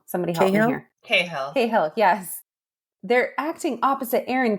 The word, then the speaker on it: Cahill: I always say her last name wrong. Somebody help me here. Cahill, yes.